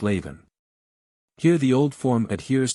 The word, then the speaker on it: Leamhan: of the language and forms Leamhan, pronounced Leven.